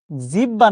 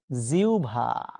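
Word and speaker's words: জিহ্বা: ভুল শব্দটা হচ্ছে বিয়ভল একইভাবে জিব্বা না জিউভা ঠিক আছে তাহলে তাহলে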